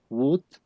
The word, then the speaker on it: would: aquí pasa lo mismo la l no se pronuncia o sea aquí pronunciamos ahí Wood like en ese caso listo